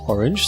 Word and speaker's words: RNG: Raging Monkey messaged me earlier today and told me it's pronounced orange, so orange they are, but that match is scheduled for week 4.